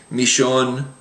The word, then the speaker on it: millón: So many times you'll hear, including from me, these words pronounced millón, amarillo, and llama. So you'll get that especially in places like Argentina, where it's actually almost pronounced like an SH sound.